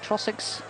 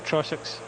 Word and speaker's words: Trossachs: Trossachs? Right, Trossach? second time, Trossachs. Trossachs.